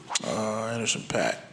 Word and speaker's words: Anderson .Paak: Did I pronounce that right? Anderson .Paak.